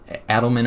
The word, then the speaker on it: Adelman: Adelman, I believe is how you say his name.